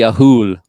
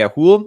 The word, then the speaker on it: Ahool: And then, yeah, because of its distinct Ahool vocalization. Okay, so it's spelled like Athol, but they pronounce and vocalize like Ahool, I guess.